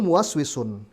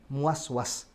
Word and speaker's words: muwaswis: Wa rajulun muwaswisun, ya, bacanya adalah muwaswis, bukan muwaswas, ya, salah, waswas salah baca, yang betul waswis, ya. Bahasa Indonesia kan banyak serapan, ya. Muwaswis, ya, dengan dikasrah wawunya, tidak dengan di fathah, karena ketika di fathah itu lahan, kesalahan baca, ya.